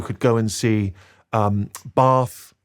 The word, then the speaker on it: Bath: see Stonehenge you could go and see um bath correctly pronounced you'll notice oh yeah with uh which